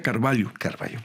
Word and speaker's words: Carvalho: No es cierto lhu pero como es portugués la lh se lee ella Entonces se pronuncia Carballo sí recuerden nuestros oyentes